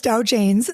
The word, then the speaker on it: Dow Janes: I said it right, like Dow Jones, but it's Dow Janes.